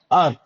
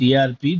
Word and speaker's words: ARP: ARP. ARP is what you pronounce, that is right. But in industry, they don't call it as ERP, they call it as ARP.